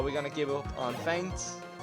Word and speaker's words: Feint: Will not work in most situations, so we're gonna give up on Feint. Even though it's spelled with an E, even though it sounds the same.